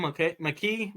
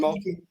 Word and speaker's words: Mulkey: Why is Kim McKee? How do you pronounce her last name? Oh, Kim Mulkey.